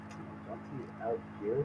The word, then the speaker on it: Dante Alighieri: Dante Alighieri, that's how you say it.